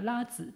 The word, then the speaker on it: 拉子: 、主人公の名前がラーツというんですよ。